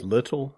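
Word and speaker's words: Liddell: the interwar period it's little that's how you pronounce it l i d d l e l yeah little as in little and Scott the Greek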